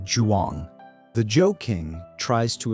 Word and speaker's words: Zhuang: Zhuang sounds like Juang.